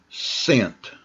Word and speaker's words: scent: Now this one is a little different because the C is silent here. So now we got just scent. Scent. So the C makes no sound.